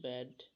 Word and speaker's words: bad: Girl, আর শব্দটা bird না, এটা ব্যাড।